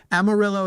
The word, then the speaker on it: Amarillo: Amarillo is the way locally people have agreed to